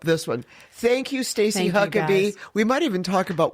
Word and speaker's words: Huckeba: Thank you, Stacy Huckabe. We might even talk about why your name is spelled Huckaba and it's pronounced Huckabe.